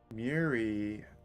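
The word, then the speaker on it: Muiri: yeah the issue though her name is spelled m UI r i so it's mui or UI whatever the sound UI would make so it's m UI and then re so that's where my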